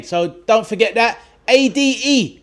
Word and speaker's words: Ade: A-D-E. Nice and easy to remember. A-D-E, pronounced Ade. It's a Nigerian name, and that is me.